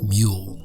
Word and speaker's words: Mul: Dark Sun Rules book The Word Mole is pronounced with the long u sound meaning the proper pronunciation is mule this is not as